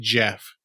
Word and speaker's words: Gef: it's just it's just Jeff it's just Jeff but it's spelled GF okay just so you know one more time GF Jeff it's just like Jeff like short for Jeffrey but it's GF yeah this is great